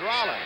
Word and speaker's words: Roland: lawrence has dropped back spells the name r-o-l-a-n-d pronounces it rolla he has a brother